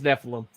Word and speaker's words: Nephilim: It is Nephilim. That's the pronunciation.